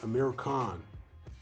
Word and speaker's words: Amir Khan: Because Americans, the way they pronounce Amir Khan, they say Amir Khan, which phonetically is the same as saying A con, right?